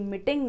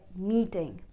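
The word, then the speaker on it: meeting: has a double ee, long ee sound, so it's mee-ting, not me-ting.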